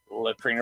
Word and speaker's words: Leitreanna: our guest out right now I hope I'm pronouncing her name right latrina I believe correct just call me